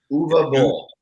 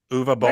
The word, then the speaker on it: Uwe Boll: So, Joe, help me out with the pronunciation of this director's name here. Uwe Boll. Uwe Boll.